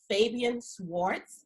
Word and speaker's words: Fabian Schwartz: Fabian Swartz did I pronounce that correctly yes yes that's correct okay